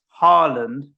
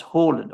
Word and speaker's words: Haaland: answered them all there why is it that all of us in england pronounce odegaard as odigard but we pronounce harland as horland i pronounce him harland holland they both follow the same rules this happens a lot right